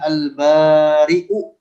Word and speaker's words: البارئ: Lanjut, kemudian nama Allah berikutnya adalah Al-Bari'u. Al-Bari' dengan hamzah. Ingat-ingat dibacanya demikian, dengan hamzah, tidak boleh dibaca dengan Al-Bari. Tetapi Al-Bari. Maknanya adalah bahwa dia Allah yang menciptakan para makhluk dengan tanpa ada contoh sebelumnya.